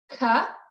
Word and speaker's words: ka: Ka, Ka. ka, like cup, except without the P.